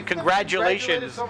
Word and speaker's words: congratulations: or a d congratulations it sounds like congrat people say congrat but you say congratulations like a d it doesn't always sound like a d congratulations it's a g even how do you